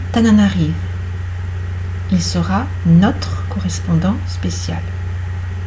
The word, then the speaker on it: Tananarive: Il part à Tananarive. Il sera notre correspondant spécial. Pareil, Tananarive, E non prononcé, parce que je suis en fin, il sera notre correspondant spécial.